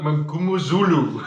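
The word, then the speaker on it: Mngomezulu: JP, did pronounce his surname for me? Sasha Feinberg Mangumuzulu.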